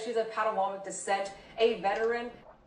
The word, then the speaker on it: Potawatomi: Brittany Jones says she's of Potawatomi descent, a veteran. It's Potomac. You pronounce the tribe's name Potomac.